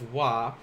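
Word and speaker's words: は: as like this because even though it's pronounced as wah we use the hiragana ha when we write this uh do you remember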